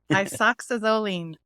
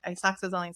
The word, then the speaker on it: isoxazoline: Isoxazoline. Isoxazoline. Nice. I used to say it totally different before, but I actually looked it up and okay. Isoxazoline. So think like iPod, isoxazoline.